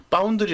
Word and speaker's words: 파운드리: 그래서 4 파운드리 파운드리 파운드리 가 아니고 파운드리 야 예전 은솔 사람인에서 빠 온 파운드리 라고 해요 바운드 리 예 파운드리 옛 이 된소리 발음 을 해야 듣는 사람이 뒤 쏙쏙 들어와요 이건 발음상의 문제 이거는